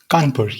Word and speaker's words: Kanpur: India Institute of Technology in, how is it pronounced? Kanpur, yes.